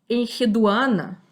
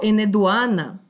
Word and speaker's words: Enheduana: nós o nome dela, Enheduana, ou Eneduana. Esse H, muitas vezes, quando a gente lê um nome antigo, ele se pronuncia com som ré, com aquele sopro, né, que nem nas línguas árabes.